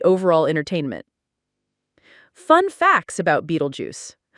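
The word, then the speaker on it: Betelgeuse: Beetlejuice like the star, but pronounced Beetlejuice in the movie.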